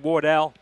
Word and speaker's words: Wardle: TC Wardell and James Davies, McKeon Pavilion, home of the St.